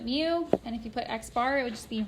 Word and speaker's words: x-bar: in an uppercase in is my population size x-bar that's how you pronounce it that is my sample mean and